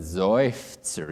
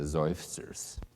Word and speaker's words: Seufzer: And I wrote the word in German, Seufzer. Even the word in German, there's an accented syllable and a resolved syllable. Seufzer, not Seufzer. Hello, sir. No, it's Seufzer.